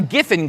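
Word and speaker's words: Giffen: Well I like to I like the name gifin because it rhymes with griffin and griffins are imaginary.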